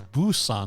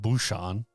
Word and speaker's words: Busan: It's Busan, not Busan.